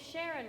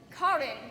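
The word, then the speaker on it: Charon: Your name's Sharon, right? You're late. I think it's pronounced Karen. It's definitely Sharon. I'll bet you 2 gold coins it's Karen. You're on, sister. Forsooth, you both be most incorrect. Karin be my name.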